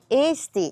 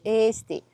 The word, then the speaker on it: Eesti: Yeah, and if you see two equals letters together, you have to pronounce longly. Eesti is Estonia, but in our language. Eesti.